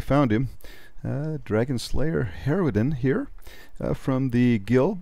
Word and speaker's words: Heerodin: having me Twinkle um my name is herodin um I came up with the name herodin